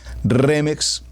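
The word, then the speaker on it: remez: segundo nivel el remix remix con z final remix como su nombre lo estoy pronunciando remex seguidamente tenemos el drash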